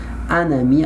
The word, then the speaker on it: un ami: Attention, un ami, I must pronounce the letter N because I have vowel.